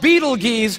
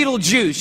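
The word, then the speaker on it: Betelgeuse: heard about this star it's called Beetle geese or be Beetle Juice you can pick your pronunciation I'm obviously going with Beetle Juice and Beetle Juice is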